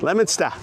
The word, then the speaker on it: Leominster: Yeah, Leominster.